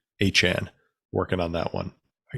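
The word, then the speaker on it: Achane: Anan I guess he's he's corrected our pronunciation from aan to Anan working on that one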